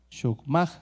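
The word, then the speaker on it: chokmah: Que se escribe C-H-O-K-M-A-H. Shokmah, creo que sería.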